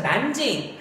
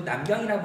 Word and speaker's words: 난징: 자, 난징, 이거 중국 발음이거든. 한자 발음으로 하면은 남쪽의 서울이라는 뜻으로 남경이라고 부릅니다.